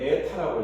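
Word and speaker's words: η: 자, 이건 뭐냐면 수차하고 발전기의 합성 효율을 나타내는데 이건 에타라고 읽어요. 에타. 뭐 어떻게 읽냐면 에타라고 읽어. 이렇게 에타라고 읽어.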